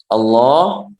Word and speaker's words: Allah: Jadi ketika seseorang menjelaskan dalam bahasa Indonesia atau bahasa Inggris atau bahasa selain bahasa Arab, ketika melafalkan nama Allah, maka harus dipanjangkan. Allah, seperti itu. Allah, seperti itu cara membacanya.